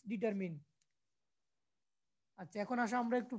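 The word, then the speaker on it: determine: জিনিসগুলো আমরা ডিটারমিন করব আমরা অনেক উচ্চারণ করি কি ডিটারমাইন নট ডিটারমাইন ইটস ডিটারমিন আচ্ছা এখন আসো আমরা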